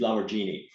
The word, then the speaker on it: Lamborghini: year anyway so uh his his pronunciation for Lamborghini is lamorghini so I always go with that enunciation oh gosh we got